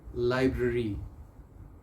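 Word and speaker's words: library: next word बड़ा interesting word है, लाइब्रेरी, लाइब्रेरी, 2 R हैं, दोनों R's को प्रोनाउंस करना है, लाइब्रेरी, लाइब्रेरी नहीं कहना आपने, क्योंकि फिर वही बातें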